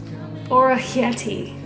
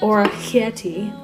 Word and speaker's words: orecchiette: finito by the way I googled it it's pronounced or a Hetty sort of if anybody speaks Italian and I'm not pronouncing it or a kitty correctly what a sister no